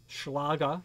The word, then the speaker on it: Schlage: a conventional core sergeant schleg conventional core meaning it's not removable or interchangeable core now that's schlage that's schlage schlage as they say in german that's how that's pronounced i know on good